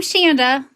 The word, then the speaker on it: Shanda: I'm Shanda, rhymes with Panda, founder of RSU